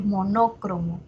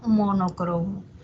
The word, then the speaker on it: monocromo: Ahora, monocromo no tiene doble acentuación, o sea, no está bien decir monócromo, no está bien, sino monocromo.